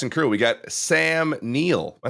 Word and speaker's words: Neill: And cast and crew, we got Sam Neill. Am I saying it right? Neil? Is it Neil?